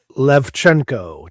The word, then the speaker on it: Lewczenko: It's Levchenko, just like it's spelled.